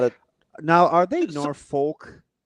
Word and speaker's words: Norfolk: at now are they Norfolk yeah cuz it's Virginia so Norfolk Norfolk I like what nor no you're exactly right well the way they pronounce it who's they nor